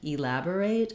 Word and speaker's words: elaborate: So the way to get the rhythm of this word is to start on the stressed syllable lab, say the rest of the word, and then add back that first short reduced vowel. That would sound like elaborate, elaborate.